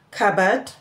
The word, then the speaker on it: cupboard: Now, let's look at where this sounds, the letter P is silent. It is silent in words such as cupboard, cause, cause, cool, psalm, receipts, receipts, and so on.